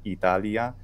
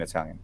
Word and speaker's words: Italia: Italia has four syllables in Latin, Italia, but only three in Italian, Italia.